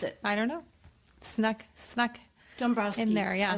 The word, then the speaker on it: Dombrowski: And so Dombrowski, did I pronounce it correctly? Dombrowski. Is there an M in there? Yes, Dombrowski.